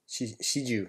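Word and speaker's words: 始終: Shiju, I pronounced that wrong as well.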